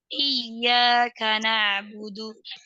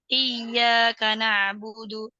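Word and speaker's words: إِيَّاكَ نَعْبُدُ: kata iyaka dan na'budu cara membacanya yaitu dengan menyempurnakan harakat di huruf Kaf karena jika tidak sempurna harakatnya maka akan menyebabkan dua kata tersebut tersambung menjadi satu kata iaka naudu naudu iaka naudu Jangan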